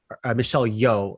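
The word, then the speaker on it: Michelle Yeoh: to Michelle yo because like Michelle yo that's how you say her name she has a scene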